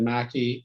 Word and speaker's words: McKey: Well, it's spelled obviously like McKee, but my dad said Mackey, and I usually do most of the things that he asked me to do, so I'm sticking with Mackey.